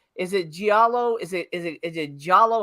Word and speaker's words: giallo: Is it giallo? Is it giallo? How do you actually pronounce it? Giallo. Giallo. So do you pronounce the I or you don't pronounce the I? It kind of runs together.